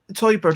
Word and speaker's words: Teuber: For example, I mean, when Teuber, that's how you pronounce it.